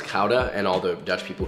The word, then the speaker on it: gouda: what kind of cheese you could do smoked gouda that would be pretty gouda it's actually pronounced cauda and all the dutch people who are watching